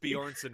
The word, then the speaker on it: Bjornson: yeah yeah jonas bjornsson right yeah it sounds very gimli yes yeah two j's but you don't really pronounce any of them right right yeah you think